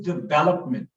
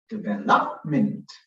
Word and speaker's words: development: bell up minutes so i stress on the second syllable verb because even if i went where with challenge development stressing the third syllable development which is wrong so